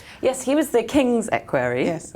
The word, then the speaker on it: equerry: Yes, he was the king's equerry. Yes. It's equerry, not equerry, apparently.